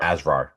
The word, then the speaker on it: Asrar: That's how you pronounce the last name, Mahmoud Mahmoud Azra. Asrar.